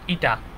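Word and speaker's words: η: এইখানে আমরা একটা জিনিস লিখবো, এখানে ইটা হচ্ছে কি একক ভেক্টর, এটাকে লেখা হয় এরকম, এটাকে উচ্চারণ ইটা, ঠিক আছে?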